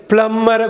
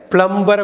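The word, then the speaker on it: plumber: ப்ளம்மரை கூப்பிடுவீங்க, ப்ளம்பரை கூப்பிட மாட்டீங்க. பிஎல்யூஎம்பிஇஆர். பி வந்து சைலண்ட்டு, ப்ளம்மர்னு தான் சொல்லணும், ப்ளம்பர்னு சொல்லக்கூடாது.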